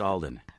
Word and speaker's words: Alden: Top professionals know it's pronounced Alden. Just Alden.